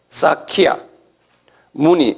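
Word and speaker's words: Shakyamuni: 싹카문이 우리는 석가문이라 그러는데 제가 영어 스펠링을 드릴게요. K 사키아 문니.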